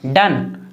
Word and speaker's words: done: डन, DONE डन, आ पढ़ रहे हैं।